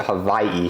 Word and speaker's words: Hawaii: I think I'm just gonna pronounce it Hawaii because that's the right pronunciation, and the locals will be happier with me for it.